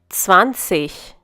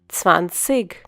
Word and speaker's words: zwanzig: When g forms a part of an i g suffix, it is pronounced as ich. You might also find some people pronouncing this number as zwanzig. This is because they have a different dialect.